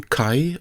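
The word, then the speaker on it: 絵: The next one has the pronunciation kai or e and the meaning picture.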